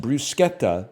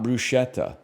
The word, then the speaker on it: bruschetta: Bruschetta is pronounced brusqueta, not bruschetta.